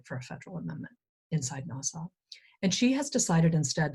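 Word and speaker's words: NAWSA: american women's suffrage association people don't usually say this big mouthful they'll just pronounce this acronym and they'll call it nassau uh susan b anthony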